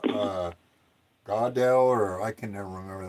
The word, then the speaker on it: Goodall: uh Godell or I can never remember that name. I don't even know how to pronounce it. God, what's her name? Chris Jane Goodall.